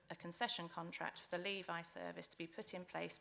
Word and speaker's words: LEVI: and my apologies for mispronouncing the acronym Levi not Levy there we go it